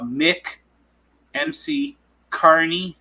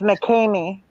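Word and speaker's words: McKamey: said he's on my page it's called Uh Mick MC Carney Manor k a r NE y Mick Carney Manor that's what's up Jimmy dropping that knowledge it's mcky sorry M oh he says MCC wait spell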